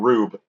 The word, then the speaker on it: R/B: Because they that's even sort of comment on how crazy the transformation devices are getting in a show called Ultraman Rube, which is spelled R/B.